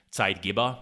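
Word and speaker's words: Zeitgeber: are called side givers which comes from German I guess you would have to pronounce them side giba but now we are just gonna say it side Giver for simplicity sake and it literally means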